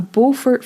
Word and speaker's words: Beaufort: It was reportedly a Beaufort Force 10 or 11 gale.